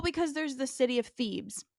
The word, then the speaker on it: Thebes: then of course the teacher's like it's actually pronounced Thebes I knew it she say something beforehand why